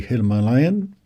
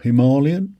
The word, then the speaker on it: Himalayan: I've got my order in for my brand new 450 Himalayan, or Himalayan, whichever way you want to pronounce it.